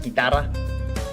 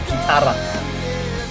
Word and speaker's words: guitarra: It's not guitar, it's guitarra. What's that?